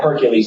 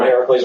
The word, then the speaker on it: Heracles: The books will start with Heracles, which we're actually using the Greek pronunciation of his name. He's not called Hercules, he's called Heracles.